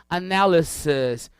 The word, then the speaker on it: analysis: Repara que a pronúncia é um pouco diferente desse IS, não é um I forte, ó, fica analysis, crisis, thesis, é um I mais seco, quase que um E.